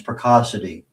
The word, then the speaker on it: Precocity: I'm also on LinkedIn under uh my name, or uh peracity. And um yeah, those are the best ways to reach me. Okay. So for our audio audience, Preassity P R E C O C I T